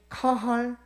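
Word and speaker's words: קהל: 화면을 한번 보시면 이제 이 카할이라고 읽는 건데요, 이 구약 시대에 이런 회중, 모임, 무리, 군중들을 말할 때 이 단어를 사용하였습니다. 그리고 신약 구약 성경에서 이스라엘을 가리키는 표현이 이 카할 야훼, 카할 여호와로 이스라엘 민족을 칭했어요.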